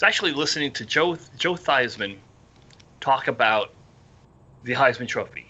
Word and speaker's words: Theismann: your name is joe thiesman and you need to change your name to joe theismann because it rhymes with heisman that's correct a lot